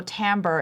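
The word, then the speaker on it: timbre: So, uh for those of you who don't know, tambber, it's spelled t i m r e.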